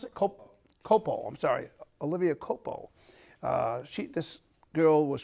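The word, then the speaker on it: Culpo: became MissUSA Olivia Coplia right how do you pronounce it Copo I'm sorry Olivia Copo uh she this girl was crowned by her, as a matter of fact, last night.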